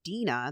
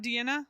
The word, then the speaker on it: Dina: this shit with It's Dina. It's Dina, not Deanna? It's Dina. Okay. Dina, I'm sorry. I think I've been saying Deanna or Dina. It looks like it's spelled like Deanna.